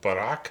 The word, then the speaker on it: Barak: So last week we kind of focused on Deborah and Barak.